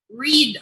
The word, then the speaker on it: Read: Read.